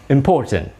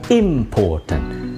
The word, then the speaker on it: important: Kata important. Okay? hati-hati dalam mengucapkan kata important. Karena kata important penekanannya ada pada suku kata yang kedua. Diucapkannya O. Seperti C yang terbalik. O. Important, bukan important.